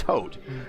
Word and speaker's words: Haute: The E's silent, so it's Haute.